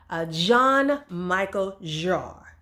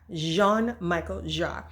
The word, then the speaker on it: Jean-Michel Jarre: by the name of, if I can pronounce the French way, I know my name is French. I don't speak a lick of French, but it's just French. And his name is Jean-Michel Jarre.